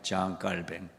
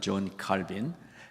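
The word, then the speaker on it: Jean Calvin: 장로교회 개혁의 대표적인 깔뱅 장 깔뱅 원래 이름이고 우리 영어식 발음으로는 존칼빈 칼빈의 그 사역했던 현장 그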